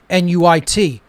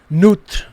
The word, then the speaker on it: Nuit: This represented the Egyptian goddess Isis, or Nuit as well, N-U-I-T, Nut, Nuit, different pronunciations of it, but it represents